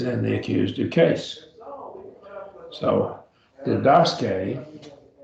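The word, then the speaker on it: διδάσκει: So didaske, right?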